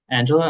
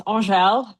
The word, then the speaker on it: Angèle: Up next, we have Angela. I hope I didn't mispronounce that. You almost got it right. So it's Angèle. But thank you so much for having me.